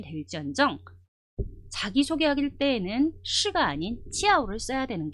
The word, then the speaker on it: 叫: 이거를 굉장히 빠른 속도로 읽어주는 거예요. 찌아오, 찌아오 이렇게 돼요.